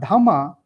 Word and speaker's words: dhamma: Sanskrit language for example in a Pali language what you call uh you know dhamma in Sanskrit that is Dharma righteousness I think the